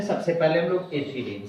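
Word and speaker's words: ethylene: Pronunciation के तौर पर कभी एथाइलिन इसी को लिख दिया जाता है, कंफ्यूजन की कोई बात नहीं होनी चाहिए।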